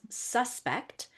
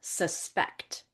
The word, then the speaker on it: suspect: The word is suspect or suspect. Now you can hear the inonation. The stress is a little bit different.